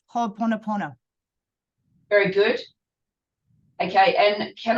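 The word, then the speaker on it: Hoʻoponopono: It's Ho'oponopono.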